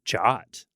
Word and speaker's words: JWT: are a surprise yeah that people called it jot I'm trying to think I don't think I've ever talked to any other developers about Json web tokens in person in a way where they would call them jot but uh yeah that